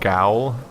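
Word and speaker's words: gaol: Yeah, I was calling it adage and gowl. Oh. Because they spell jail G-A-O-L.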